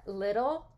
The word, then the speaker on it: little: We don't say little. We don't pronounce the t in this word. We pronounce it duh, kind of duh, and that is the flap.